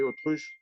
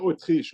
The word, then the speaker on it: autruche: What do you say, autruche? Un œuf d'autruche. D'autruche. Autruche, pas Autriche, autruche.